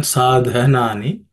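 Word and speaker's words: साधनानि: The second one, sadhanani. The second letter, dha, is an aspirated consonant because it's the fourth letter in the tha varga or tha class of consonants. So dha, okay, sadhanani, sadhanani.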